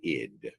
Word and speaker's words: id: mind or psyche and the first is pronounced the ID it doesn't stand for anything it's not an acronym or anything it's just the ID the ID is a